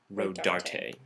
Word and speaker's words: Rodarte: But you do pronounce the last T-E, so it is supposed to be RODARTE.